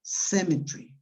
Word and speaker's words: cemetery: You pronounce cemetery. Yes? Do you understand it? Do you understand it? Yes. Yes. Yeah, okay. There is one syllable that disappears.